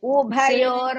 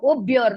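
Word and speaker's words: उभयोः: Ubhayor madhye. Ubhyor no. Ubhayor madhye. Payor madhye. Senayorupayor madhye. Once more. Senayorubhyor madhye. Ubhyor no. Ubha. Bha should be pronounced.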